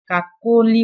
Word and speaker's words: কাকলি: এর সাথে যে অটা ছিল সেই অ এর উচ্চারণটা অনেকটা ও এর মতো হয়েছে, কাকলি বলেছি।